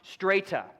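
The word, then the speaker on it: στρατιά: That means that word is pronounced strata.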